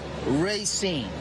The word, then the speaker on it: Racine: Actually, I say Racine too. It's no, you got to pick one. That's the proper pronunciation of it. Racine.